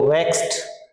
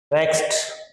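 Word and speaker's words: vexed: वेक्स्ड का मतलब देखो, वेक्स्ड आप ये इसमें विशेष ध्यान रखना, जो ईडी होता है तो इसमें टे की साउंड आती है, वेक्स्ड। वेक्स्ड यहाँ डे नहीं है, टे की ध्वनि है।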